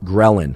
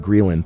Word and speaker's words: ghrelin: in your body called ghrelin sometimes actually called greylin thanks for all of you grill anistas or ghrelinistas that corrected my pronunciation it's both ghrelin or grill and either one works ghrelin makes you hungry